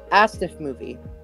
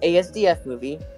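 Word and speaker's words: asdfmovie: And yes, people, it's pronounced Astif movie. Not ASDF movie, just Astif movie.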